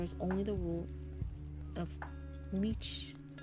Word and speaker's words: liches: Without the Inquisition, he reasons, there is only the rule of liches. That's how you say it, not leeches.